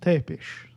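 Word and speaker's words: Țepeș: He's pronounced Tepish. Mr. Tepish.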